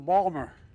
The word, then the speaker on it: Baltimore: folks I say to my dad dad they're mispronouncing Balmer my dad and the Biden please sit down